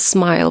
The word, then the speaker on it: SMIL: yeah I think it's officially pronounced as smile but I don't understand why it pronounce it smile without the e at the end yeah so smell I